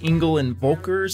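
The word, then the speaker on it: Engel & Völkers: We've got a special guest, Bob Jones with Engel and Volkers. Is that how you pronounce it?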